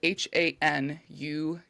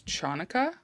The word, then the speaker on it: Hanukkah: So the Hebrew word Hanukkah, which it's spelled Hanukkah, but it's also known as Chanukah, Chanukah, but it's most popularly called Hanukkah.